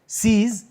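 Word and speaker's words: seize: Z का sound आएगा इसमें, Z है, सीज।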